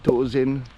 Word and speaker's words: Tåsen: Allora, il quartiere dove siamo è il quartiere di Tåsen, che si scrive Tasen con la A col pallino sopra, perché la A col pallino sopra appunto si pronuncia E.